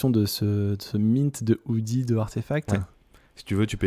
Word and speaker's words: RTFKT: l'équipe de artefact pour si vous connaissez pas artefact ça s'écrit rtfkt donc sans les voyelles donc ça fait un